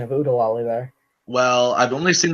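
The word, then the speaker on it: Oo-De-Lally: and not in Nottingham wow you killed the pronunciation of UD deali there well I've only seen the movie a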